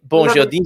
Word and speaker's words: Bonjardim: You should Bonjardim, I should say, rather than the French pronunciation.